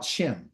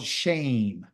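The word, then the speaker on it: Shem: most high had revealed to us something about shim okay his real pronunciation of his name is called shame but it's not the shame that you and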